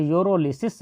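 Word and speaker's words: pyrolysis: हिंदी में हो तो यूरोलिसिस दिया होगा, जबकि इंग्लिश में हो तब भी एक्चुअली लिखा तो होगा यूरोलिसिस ही, जबकि उसमें पी साइलेंट होता है।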